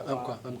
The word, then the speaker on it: Umpqua: The Umpqua, am I saying it right? Yeah, Umpqua.